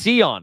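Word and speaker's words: Sion: Pronounced Seon. Okay. Seon James.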